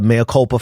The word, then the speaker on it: mea culpa: This has been like a mea culpa for me. Mea culpa. Yes, I just checked the pronunciation of that, and no, I'm not editing it out.